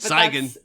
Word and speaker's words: Cygan: Cygan. Sorry, I am so used to people not pronouncing it right that I'm just like, at